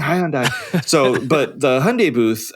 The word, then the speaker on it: Hyundai: seeing the uh the hyundai see i said it right i don't say highland dye anymore after i've been correct